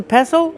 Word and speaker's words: pestle: The T is silent. Don't pronounce the T.